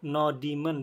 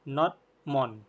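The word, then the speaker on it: nodemon: ini Oke tapi ini cara bacanya bukan Demon ya No Demon bukan ya tapi not Mon oke nah teman-teman boleh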